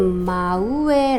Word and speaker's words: 真上: 사람의 이름으로 마코토라멘 여기에다가 윗 상자를 쓰고 발음은 마우에 아고 합니다 바로 위라는 뜻을 갖고 있고요 그다음에